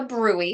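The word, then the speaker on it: bruit: up in all of those arteries causing a brewery remember we talked about the brwy spelled brute BR rui T but pronounced Brewery but they're really going to be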